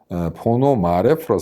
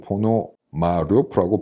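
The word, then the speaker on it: Пономарёв: 내용을 잘 몰라서 봤는데 포노 마레프로 쓰고 포노 마 루프라고 발음하는 것 같습니다 러시아에서는 근데이 사람이 지금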